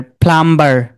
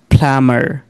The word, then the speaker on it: plumber: dead, limb, lamb, plumber, এটাকে আমরা কি উচ্চারণ করতাম, আপনার প্লাম্বার, যে আপনি কি কাজ করেন, আমি প্লাম্বারের কাজ করি, তাই না? কিন্তু তারা কি প্লাম্বার বলবে, তারা ওটির মধ্যে কি বলবে আপনাকে, প্লামার, প্লামার। তাহলে প্লামার বললে তারা বিটাকে বলে